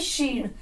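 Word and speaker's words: she'd: ये बन जाता है शीड। क्या बन जाता है? शीड। एंड शी हैड। शी हैड भी शी वुड की तरह ही है, शीड। SHE and then apostrophe and then D. क्या बन गया? शीड।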